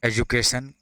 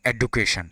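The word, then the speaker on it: education: जैसे words correctly, example हो गया प्रोनाउंसिएशन कैसे करेंगे, एजुकेशन correctly, not एडुकेशन, एजुकेशन, ये सही हुआ, ये गलत हुआ, एजुकेशन।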